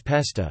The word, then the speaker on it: pesta: Words borrowed earlier have a more nativized pronunciation, such as pesta, fest, which is pronounced pest.